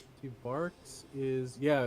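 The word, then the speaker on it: Barq's: Cream soda, big red, barks, marks. I used to, as a kid, it took me way too long to know figure out it was supposed to be pronounced bark like a dog.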